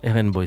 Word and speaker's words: RnBoi: je fous En tout cas, voilà, RN Boy, c'est comme ça qu'il faut le prononcer.